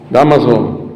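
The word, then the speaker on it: Dámaso: Damaso, con acento en la Damaso.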